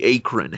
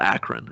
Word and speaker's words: Akron: that's the one the a current hammer he's from a current because it's called Akron Akron oh yeah that's right